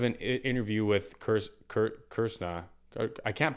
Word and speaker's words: Kr$na: interview with curse curt kirsna i can't pronounce that right so you're supposed to point your tongue towards the roof of your mouth and then the r the s and the n become vowels i believe i've kind